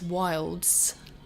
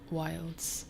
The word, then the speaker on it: Wildes: you pronounce my name it's wilds like oscar wilde but with an s on the end wilds um hi bob thank